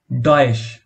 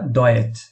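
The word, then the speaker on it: Deutsch: তে এস সেহা, যার উচ্চারণ চয়ের মতো বা তালব্যস্বরের মতো। ডয়েশ অথবা ডয়েচ, ডয়েচ অথবা ডয়েশ, আপনি যেটাই বলুন না কেন দুটোই শুদ্ধ, যার অর্থ জার্মান।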